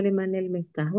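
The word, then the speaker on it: لمن المفتاح: tadi pertanyaannya ini ya membacanya ee kalau aslinya itu liman liman almiftahu tapi karena ee kaidah membacanya itu untuk memudahkan, jadi kita baca dengan harakat kasrah yang nunnya bersukun tadi. Limanil miftahu ya seperti itu.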